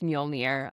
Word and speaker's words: Mjölnir: No, I can actually pronounce Muolnir, but it was nicknamed Miumu in Thor in